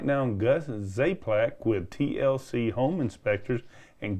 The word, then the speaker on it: Czaplak: the survey and we have right now Gus zaplac with TLC home inspectors and Gus has one of these odds spelling names spell your last name it's pronounced zlac but you spell it how Gus it's spelled